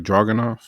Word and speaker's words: Ilya Dragunov: Then you had oh yeah, Dragunov. That's how you pronounce it, right? Dragunov.